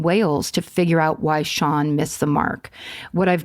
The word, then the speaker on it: Sean: What I've gathered is that the on in Sean is similar to the on in Siobhan and rhymes with how an English person would pronounce barn, which would be bon, silent R.